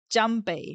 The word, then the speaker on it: Junpei: Uh, it's not Junpei, right? I mean, Jumpy is his nickname, but I'm pretty sure this in Japanese would be pronounced Junpei.